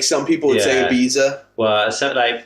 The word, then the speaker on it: Ibiza: I probably know them they say it like pizza it means that we're going to Ibiza I'm gonna eat pizza in Ibiza yeah even in the u.s.